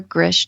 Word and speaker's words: Grzych: find me on my website which is Gris calm and my last name is spelled g r z y c h so